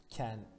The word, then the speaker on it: 見: Miru. Çince okunuşu ken.